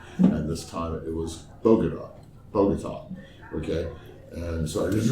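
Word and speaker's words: Bogotá: So Bogota is pronounced Bogota. Yeah, Bogota, Bogota, not Bogode, is not long A, as in lame brain.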